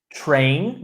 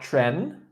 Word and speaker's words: train: Train, not tren.